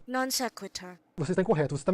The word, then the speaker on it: non sequitur: Sequitur é pronunciado assim, desse modo. Non sequitur.